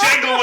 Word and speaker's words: Django: You know, it's Django Unchained. That's what I got. Man. I got the But look though, The D is silent.